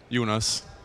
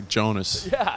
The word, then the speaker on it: Jonas: but all right so first of all it's Jonas not Jonas right unis unis unis unis so however you want to try to say it usually Americans say Jonas but it's unis unis yeah we're not gonna